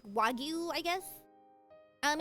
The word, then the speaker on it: wagyu: It's pronounced um in Japanese it's wagyu. So if I say it in English it would be like wagu I guess.